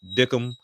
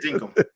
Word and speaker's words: Dinkum: If you were into the farming lifestyle, Animal Crossing type situation with Dickum. I think that's how you say it. Dinkum.